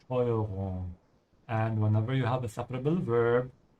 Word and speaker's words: Steuerung: And as I keep saying here, whenever the S comes before a T, it's a sh sound, yeah? That's why it's Steuerung.